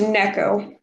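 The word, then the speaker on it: 猫: that is is it Nico cat in Japanese so it like cat girl I think it's it's pronounced Neco okay cool but yeah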